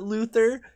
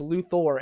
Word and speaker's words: Luthor: that way you can realize that it's Luthor and not Luther you idiot as far